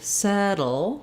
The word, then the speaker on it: settle: So in settling, it's like the word settle, where we have the flap, settle. So not a lot of sound between the D and the L, but a little bit of a syllable there. So unsettling, settling.